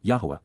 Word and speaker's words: Yahweh: perfect cohortative from QPS Yahweh Yahweh the proper pronunciation of the name of eloah God as directed in his